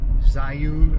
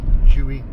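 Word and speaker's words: Zhiyun: spelled Zhi y UN and most people online pronounce it sigh you or ji Yoon ji Yoon but it's not it's Juhi which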